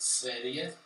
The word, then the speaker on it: Sverige: It's pronounced Sverige.